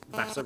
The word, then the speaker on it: Vasa: and pressure, but also because Vasa rhymes with NASA.